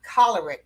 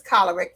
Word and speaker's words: choleric: break I'm going to explain to her that the word is not colorant but it's caloric this is a woman who developed this program for 30 years and I'm telling her as they cholerant how to say the word tolerant and I was getting ready to when she explained the word is choleric from the root word cholera and I said oh